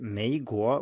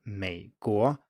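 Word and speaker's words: 美国: We talked about it in episode 26, but to put it very briefly, the third tone is usually a low tone, but many people pronounce it as a rising tone.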